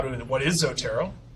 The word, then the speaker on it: Zotero: i am at the homepage for zotero zotero pronounced zotero is a free easy to use tool to